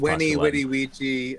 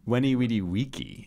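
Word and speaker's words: veni, vidi, vici: and all ben, and long live Weenie Weedy Weechy. I agree with Churchill. Come on, Weenie Weedy Weeky.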